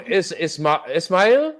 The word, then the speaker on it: Ismail: So is this from Ismail? Am I pronouncing that right?